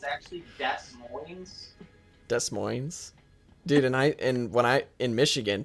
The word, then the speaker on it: Des Moines: I mean, Des Moines. I should just pull up and be like, you're actually pronouncing the name of your city wrong. It's actually Des Moines.